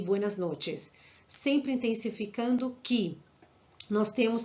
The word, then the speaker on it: noches: E para finalizar, repassando novamente, aqui nós temos buenas noches. Tem que ser bem pronunciado essa letra e temos que tomar cuidado com C e H, com som de che.